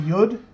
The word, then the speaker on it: yud: It's a tiny little letter called the yud. and it's the smallest Hebrew letter, and it's like a Y. It's pronounced like a Y.